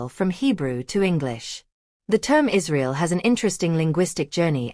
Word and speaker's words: Israel: In classical Latin, it would be pronounced Israel, with a trilled R.